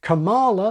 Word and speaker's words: Kamala: A second option is to follow the pattern of koala, impala, la scala, kampala, masala, and if you're British, gala. Americans say gala. So option B, Kamala like koala.